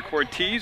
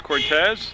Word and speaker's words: Cortez: I mispronounced her name the first game of the year. I called her Cortez. It's Cortez.